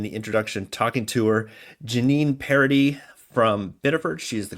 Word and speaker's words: Jeannine Paradis: I mispronounced it in the introduction, talking to her. Jeannine Paradis from Biddeford.